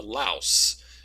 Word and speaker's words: louse: So that's why when you look at his vernacular, his diction, he'll talk about a louse, so that it rhymes with house, basically.